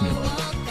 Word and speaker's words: Milo: Milo's pronounced Milo, by the way. Okay. What's up? I'm kind of used to it being like I'm kind of used to like that sound being pronounced like I.